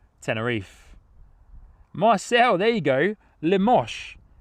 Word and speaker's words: Limoges: coming in from a place name I cannot pronounce. Limoges.